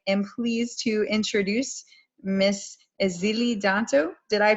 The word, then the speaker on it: Èzili Dantò: So I am pleased to introduce Miss Èzili Dantò. Did I pronounce that right?